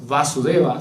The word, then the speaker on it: Vasudeva: Y el otro, Vasudeva, solo sin doble acento en la A, es el padre de Krishna, ¿sí?